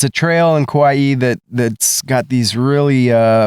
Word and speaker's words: Kauai: sale but why not buy me it's actually kawaii kawaii and I know that but it just sounds